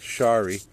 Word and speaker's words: Shari: sh dead wood on a bonai is called Shari If It Moves down the trunk if you're